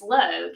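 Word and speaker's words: लोग: And she said, "It's Log."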